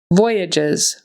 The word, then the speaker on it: voyages: the second syllable acrude voyages voyages this time the accent is on the first syllable and again that g